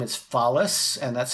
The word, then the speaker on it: Follis: followed by Inc Inc my last name is phallus and that's spelled f as in Frank o l l